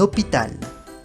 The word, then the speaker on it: hôpital: La H en francés se dice H y es totalmente muda en francés, nunca se pronuncia. Por ejemplo, un hôpital, hospital. La H al principio ahí no se pronuncia.